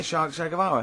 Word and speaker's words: Che Guevara: Shay is like shake, and his surname is like guitar.